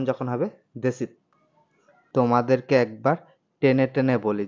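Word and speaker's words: десять: কে বলা হয় দেত দেত মানে 10 টানে উচ্চারণ যখন হবে দেশিত তোমাদেরকে একবার টেনে টেনে বলি যেমন রাশিয়ানডা বলে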